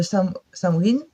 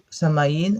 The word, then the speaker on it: Samhain: Donc là, je vais vous faire la petite vidéo, la petite guidance concernant euh, cette fête de Samhain ou Samaïn, en fonction, vous appelez comme vous prononcez, comme vous le souhaitez.